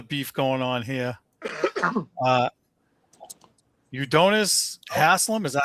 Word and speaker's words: Udonis: Uh, Udonis Hasslam, is that how you say his name? I apologize. Udonis.